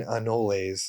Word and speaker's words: anoles: voice an an no I think the correct pronunciation is green anoles so he leaves he